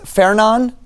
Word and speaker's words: Fernand: It's pronounced Fernon. It's a French name.